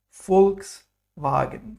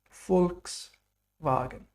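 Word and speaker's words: Volkswagen: have V for victory in English it's pronounced like f in German so there's a special sound here V is fou like f in the famous car company folks wagen people's car folks wagen very good then we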